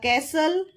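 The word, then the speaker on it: castle: A please next the कैसल इसमें T silent है द कैसल looked इनमस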